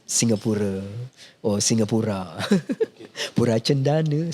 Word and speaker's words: Pura: Pura Cendana, so it's Pura, the right pronunciation.